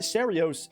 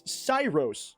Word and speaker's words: Ceiros: Uh his name is not Serios, it's Cyros or Syros. Cyros or Syro, something like that. Probably Cyrus. I'm going to say Cyros.